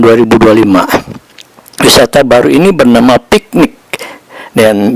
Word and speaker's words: PICTNIQ: Awal April ini tahun 2025 wisata baru ini bernama piknik dan ditulisannya si piknik cl gitu ya tapi bacanya bukan piknik p i c n i q gitu tulisannya ejanya piknik gitu piknik langsung menyedut